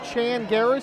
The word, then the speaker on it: Changaras: It's pronounced Chanaras. He tells me that it's Greek.